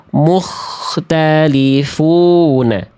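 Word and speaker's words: مختلفون: Jangan dulu masih jauh dari pelafalan ta, Teman-teman sudah lepas jadinya begitu bunyinya mukh. Nah, itu karena dilepas dirilekskan, jangan dirilekskan dulu. Dikontraksikan terus khnya si ujung tenggorokannya ya. mukhtalifuna mukhtalifuna mukh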